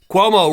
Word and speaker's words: Cuomo: the cannolis Hey Cuomo Cuomo rhymes with Homo Sapien I'm out of New